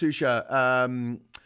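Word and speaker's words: Xuxa: Shusha, pronounced Shusha, made a big campaign to protect and defend transsexuals.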